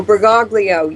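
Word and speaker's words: Bergoglio: really interesting uh but how do you pronounce his last name Bor Boro boglio oh boglio yes he became a pope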